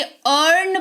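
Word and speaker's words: earn: एन है यहां पर तो इ के देखो तुरंत बाद ए आर है तो इसको सिंपली अर्न पढ़ेंगे इयर्न नहीं पढ़ेंगे।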